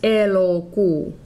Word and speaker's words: elokuu: This is elokuu. That middle sound is an O. Elokuu, elokuu. The first sound is E, not E, like in bet or bed.